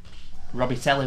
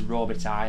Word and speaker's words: Robitaille: I used to call him Robitelli when I was younger. But I believe it is Robitaille, how you pronounce his name.